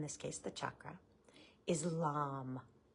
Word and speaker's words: Lam: sound Bea Mantra which means it's the one syllable uh most basic mantra for that energy in this case the chakra is lamb l m now one of the things I